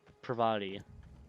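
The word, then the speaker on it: Parvati: I can't Pravati. There we go. That's how you pronounce it.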